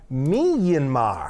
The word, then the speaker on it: Myanmar: maybe she's from Goffstown is saying that it's pronounced Myanmar Myanmar and I like Burma Burma